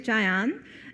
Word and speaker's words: Jayeon: I'm here with Jayeon. You want to introduce yourself? Yeah, of course. Hi, my name is Jayeon. It rhymes with National Park Zion, Z-I-O-N, but with J.